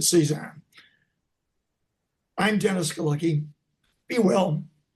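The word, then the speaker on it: CESAAHN: I pronounce it C ZAHN.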